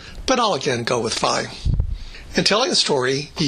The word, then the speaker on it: phi: As a student, I always heard professors pronounce this as fee, but fraternities and sororities go with phi.